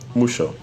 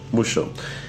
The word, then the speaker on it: mucho: It also happens in words like mucho that it will be like mucho musho mucho you know and yeah so